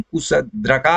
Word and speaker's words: कुशद्रका: इसको अंग्रेजी में तो शूद्रका भी कहा जाता है, लेकिन कुशद्रका ही इसका सही उच्चारण होगा, इसको ध्यान में रखेंगे।